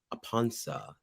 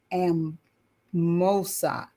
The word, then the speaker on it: Amponsah: by Kiazi Malonga and drumming by Eugene Yaw Amponsah.